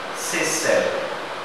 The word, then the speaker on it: Seychelles: Maybe it was not pronounced Seychelles. Maybe it was pronounced the Creole way, Seychelles.